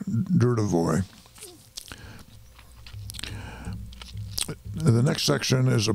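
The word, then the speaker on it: Dudevoix: It's spelled D-U-D-E-V-O-I-X. I think it's D-U-R, Dudevoy.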